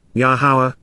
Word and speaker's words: Yahowah: Unless, Lubal, if not for the contrasting affirmation of, Yahowah, the proper pronunciation of Yahuwah based upon his Torah, teaching